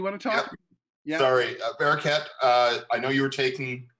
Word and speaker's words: Bareket: I'm on like a kick, so I'm gonna correct you in the pronunciation of my name. Please. It's Barraquette.